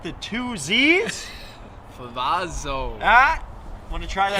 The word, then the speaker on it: Favazzo: not the two z's favazzo ah want to try that pizza is not how you pronounce it benny you know what i'm just not going to need some help it's favazzo i'm so sorry i've